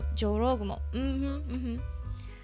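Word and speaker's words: 女郎蜘蛛: そうなんか日本語ね、私も下手だからちょっとね、ちょっと自信ないんだけど。Sometimes kumo is pronounced as gumo, like jorogumo.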